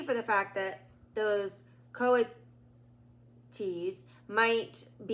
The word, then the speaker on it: coatis: Pronounced Coatis.